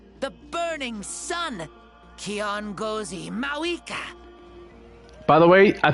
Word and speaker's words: Kiongozi: O inheritor of my ancient name, the burning sun, Kiongozi Mauvika. By the way, I think the correct pronunciation is Kiongozi.